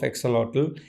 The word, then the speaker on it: axolotl: This is axolotl. It's also Americans call it as axolot. L is silent.